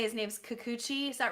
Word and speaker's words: Kikuchi: I'm not sure how to say his name's Kikuchi, is that right? Yeah, Kikuchi.